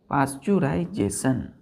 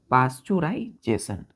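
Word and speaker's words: pasteurization: बच्चों इसको हम लोग पाश्चराइजेशन पी ए ए पी ए एस टी ई ई यहां साइलेंट हो जाता है यू आर आई एस ए टी आई ओ एन पाश्चराइजेशन clear है बच्चों क्या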